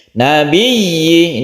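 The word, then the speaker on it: نَبِيِّ: Nabiyyi, ini cara membacanya, tasydid harus jelas, y-nya harus jelas.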